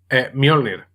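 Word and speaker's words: Mjölnir: La J, esto es una cosa curiosa. La H, en nórdico antiguo, se pronuncia como una J, pero la J, si va acompañada previamente de otra consonante, se pronuncia como una I, normalmente.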